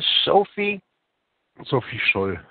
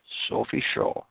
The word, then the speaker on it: Sophie Scholl: Sophie, and pronounce her name right, Jörg, would you? Sophie Scholl. Sophie Scholl.